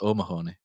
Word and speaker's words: O'Mahony: So instead of Mahoney, it's O'Mahony. O'Mahony, and O'Mahony, he's not played too much at first team level, so he's a bit of an unknown there.